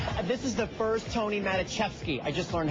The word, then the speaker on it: Maticevski: first to arrive this is the first Tony matachi I just learned how to pronounce that correctly show that I've SE seen